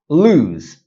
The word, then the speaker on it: lose: Lose, the one with the Z sound.